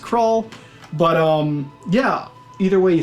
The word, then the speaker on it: Krull: Now, I always thought when I was growing up that the movie was named Krull. I've recently, maybe the last couple of years, figured out that it was actually pronounced Krull.